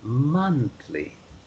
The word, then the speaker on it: monthly: the word monthly the o is pronounced like letter u monthly monthly that's it there